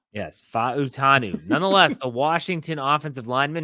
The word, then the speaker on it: Fautanu: the pronunciation there's four syllables Pacific island you pronounce V yes fanu nonetheless the Washington offensive lineman who Mike Tomlin